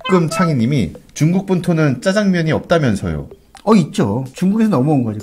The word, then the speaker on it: 짜장면: 사실 제 발음도 100% 맞는 건 아니에요. 저도 약간 사투리가 깨서. 짜장면.